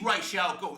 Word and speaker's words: Ra's al Ghul: I mean, it's not Raz, is it? They were calling him Raz. It is Ra's al Ghul. That's how you say it.